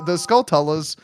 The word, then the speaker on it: Skulltula: How do you say that spider's name? Do you say Skullchulla? Skullchulla? Skulltula? Skulltula. Yeah, that's why I always did, with like the T sound.